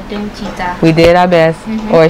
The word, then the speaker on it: DOOMCHITA: So now we're going to react to Secret Number DOOMCHITA. Yep. I guess that's how you say it. Okay. It's Doom and then Chita. You put it together. DOOMCHITA.